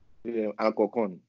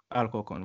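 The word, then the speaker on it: Alcorcón: club ou c'est Alcorcon mais qui j'en vous prononcez lui? Alcocon. Alcorcon, voilà.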